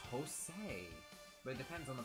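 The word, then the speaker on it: José: Um, some people pronounce the J as a J or as an H really because I know Jose is like a thing in Spanish.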